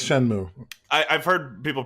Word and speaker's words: Shenmue: Yes, it's Shenmue. I've heard people pronounce it Shenmue, so yeah.